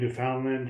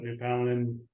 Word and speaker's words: Newfoundland: And by the way, nice pronunciation, Newfoundland, because people often get that wrong. But I mean, oh really? They always say like Newfoundland or my friends say